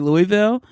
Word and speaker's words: Louisville: I went to Louisville. You know, I think it's so amazing that's how you say it because I would say Louisville. But I love how they say Louisville.